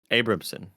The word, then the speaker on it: Abramson: is there nanobiologist says you can pronounce my last name as abram's son abramson okay i'm just i'm